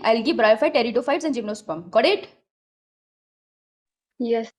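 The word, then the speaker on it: pteridophytes: Algae, ब्रायोफाइट, फिर आएंगे टेरिडोफाइट्स। ठीक है, पी साइलेंट होता है।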